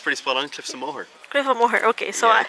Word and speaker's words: Cliffs of Moher: Us so what is the correct way to pronounce Cliffs of Mo mooh is yeah it's pretty spot on Cliffs of mooh cff of okay so yeah don't yeah you